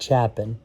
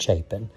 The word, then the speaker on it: Chapin: and I'm going to say that it's not Chapin, it's pronounced Chapin. I was actually contacted by one of their salespeople and they explained to me that it's not pronounced Chapin, it's Chapin, because all these videos have already been recorded.